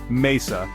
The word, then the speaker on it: mesa: the language for example Mesa table rball a ball tree notice how the stress Falls naturally on the second to last syllable two words ending in